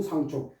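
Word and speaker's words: 向: 장군 상총. 요게 향자 아닙니까? 근데 요게 향인데 방향이죠. 방향 디렉션 방향인데 여기에 성 이름이나 땅 이름일 적에는 이걸 상이라고 발음을 해요.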